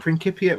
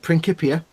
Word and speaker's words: Principia: Well, when was Newton's Principia Mathematica published? And I pronounced it correctly, Principia. Aha, see? Aha, I know me science. When was Principia published? Is it not Principia? Nope, it's Principia.